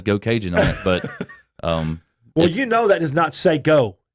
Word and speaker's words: Geaux Cajun: Go Cajun? Go Cajun on Will you Facebook. spell that, please, real quick for everybody?